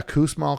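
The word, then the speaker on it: Kussmaul: book in the description totally smell Chronicles yeah Coos Mall Chronicles it's called and he was an engineer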